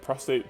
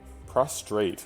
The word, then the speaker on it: prostrate: Alright, Prostate, just lucky, blocks out. Prostrate. Oh my god, I keep saying prostate. Prostrate.